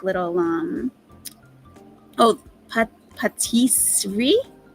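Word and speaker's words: pâtisserie: like little um oh Patisserie Patisserie thank you that's how you pronounce it I had no idea I mean to me it looks like Patisserie like rotisserie Elizabeth Connor Thank You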